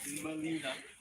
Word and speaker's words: Gmelina: Melina, not native to Jamaica at all, but also causes all kinds of interesting medicine and does bear actual fruit. It's spelled Gmelina.